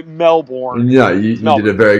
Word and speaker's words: Melbourne: Call the Melbourne, or you guys pronounce that a little bit differently than an American would. It's like if I pronounce it the Australian way, everyone's just like, "You're such a like, don't do that."